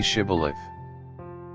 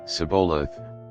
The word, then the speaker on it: Shibboleth: they said all right say shibboleth if he said sabolath because he could not pronounce the word correctly They seized him and